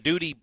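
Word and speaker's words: Dudie: It's like the duties of the dudes.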